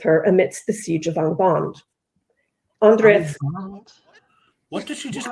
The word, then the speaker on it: Angband: seek union with her amidst the siege of Angband. Andreth. What did she just call it? Angband. Was she watching a Thai movie, Angbak? Jesus. No, this is because of the previous words. The pronunciation gets mixed up because of the pretentiousness